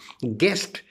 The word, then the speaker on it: guest: Guest, G-U-E-S-T, guest, U is silent.